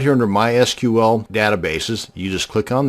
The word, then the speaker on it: MySQL: mysql database and yes it's pronounced mysql not mysql so the next time you're at a dinner party discussing databases and frankly why would you be at a dinner party discussing databases but that's a different story altogether now you won't sound so much like a dork it is pronounced mysql many applications or scripts